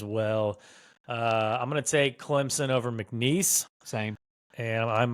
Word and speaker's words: Clemson: an inside joke the the Clemson football fans came for my throat because I pronounce them Clemson all the time they said there's no Z in Clemson so I'm just going to start pronouncing it like dbo does Clemson uh I've got Clemson